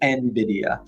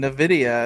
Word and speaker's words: Nvidia: Um but pronounced Nvidia. So, the people on the customer support line were right. I was over here telling them Nvidia and they're probably thinking I'm silly.